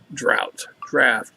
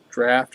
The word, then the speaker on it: Draught: Guinness Draught, whatever you want to say. Supposedly, according to Wikipedia, it's pronounced all three ways. Depends on where you are in the world.